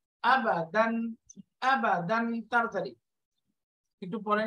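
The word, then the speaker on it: أبداً: আবাদান পুরোটা বানান করলে কিরকম হবে? হামজা ফাতহা আ, বা ফাতহা বা, আবা, এই যে আবা, তাড়াতাড়ি টান হবে না কোনো, আবা, দাল ফাতহা তাইন দান, দাল ফাতহা তাইন দান, আবা দান, আবা দান, আবা দান,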